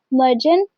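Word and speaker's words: Mercan: And female female lead का नाम मरकन है जो कि टर्किश में मर्जन प्रोनाउंस किया जाता है। लेकिन हम लोग यहां पे मरकन प्रोनाउंस करेंगे।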